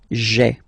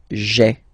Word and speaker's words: j'ai: take this away, okay, so that you get this sound j'ai, j'ai. Okay, so j apostrophe ai. Remember, when you combine this ai, you get the e sound.